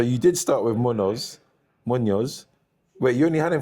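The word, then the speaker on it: Muñoz: Munoz. Wait, you only had him for one game week. He's done all right. Moso cuz it's got the accent on the end.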